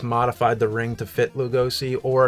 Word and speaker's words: Lugosi: And by the way, his name is pronounced Lugosi, like it's like that.